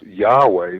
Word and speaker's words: Yahweh: listen there is this ancient personal name of God that is often pronounced Yahweh.